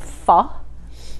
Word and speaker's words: pho: are doing vietnamese food we are doing pho pronounced fall correct and summer rolls vietnamese